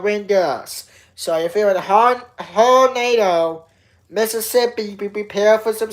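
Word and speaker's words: Hernando: H E R N A N D O That's It's almost It almost spells like a tornado. It's almost spelled the same way as a tornado. A hornado. Okay. Hornado is what that's called. What that town is called. Hornado. Hornado.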